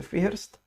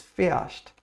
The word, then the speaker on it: fährst: The H in German isn't that strong. We don't pronounce it. We don't say fährst. It's fährst. Yes, and R is pronounced like er, so it comes to be fährst.